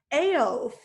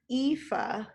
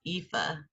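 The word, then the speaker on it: Aoife: i listened to it yeah yeah i was pronouncing it like elf oh okay yeah not right ifa yeah i even wrote like a little a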